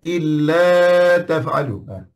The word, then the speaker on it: إلا تفعلوه: Illa tak ada alif, tak ada macam tu. Bacanya illa taf'alu.